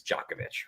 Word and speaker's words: Djokovic: Look, it is the the proper pronunciation is is is Jovovich, right?